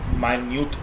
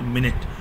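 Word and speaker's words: minute: Next है अपना every माइन्यूट detail. जी हाँ, इट इज़ नॉट मिनट, मिनट घड़ी वाला होता है। अगर इसका उच्चारण मिनट की जगह माइन्यूट कर दिया जाए तो इसका मीनिंग चेंज होता है।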